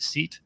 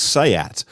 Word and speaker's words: SEAT: in the us we would say we would pronounce it seat for one right no one would get it and also it exists it's a really interesting challenge for vw as well because sayat has always been the cheap spanish bit of